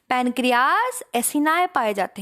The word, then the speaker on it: acini: इसको एसिनाए बोलते हैं। क्या बोलते हैं? एसिनाए। एक्नी भी बोल सकते हैं, कोई बुराई नहीं है, लेकिन प्रॉपर प्रोनाउंसिएशन इसका है एसिनाए, ACINI, ठीक है।